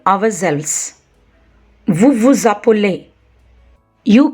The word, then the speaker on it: appelez: And the endings of nous and vous conjugations, ons and oz, should be pronounced. Nous nous appelons, we call ourselves. Vous vous appelez, you call yourself.